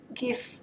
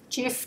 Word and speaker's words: GIF: you can use a JPEG, GIF, GIF, depending on how you want to pronounce it, PNG, BMP, and they must be files of less than 5 megabytes.